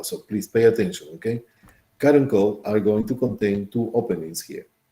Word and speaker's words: caruncle: This caruncula or caruncle, it's pronounced caruncle, caruncle.